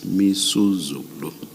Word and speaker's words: Misuzulu: I mispronounced the king's name. It's Misuzulu. Thank you.